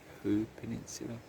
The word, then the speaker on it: Hoo Peninsula: And then you come out onto the Hoo Peninsula, that's how you say it.